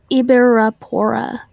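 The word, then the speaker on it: Ybyrapora: So, Tennessee tarantulas just asked you to say Ibi, because I know it's E's and not Y's, even though it's spelled with Y's. Ibirapora.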